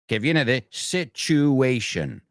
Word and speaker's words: situation: Situation. No situation. I think it's probably one of the most mispronounced words in the language. So just remember this. A lot of times we say what's the sitch.